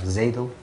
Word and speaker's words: xADL: and look at ZADL, XADL but pronounced like ZADL, which is one of the latest developments.